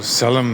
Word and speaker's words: salam: So salam means peace, but when you say it like solemn, it takes on this totally different meaning here.